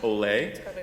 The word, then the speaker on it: OLE: in the actually most people don't know it's pronounced Olay the ole a package manager that allowed for